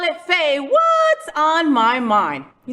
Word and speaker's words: FayWhat: say um my show my name is Faye what and we say it like that okay say what so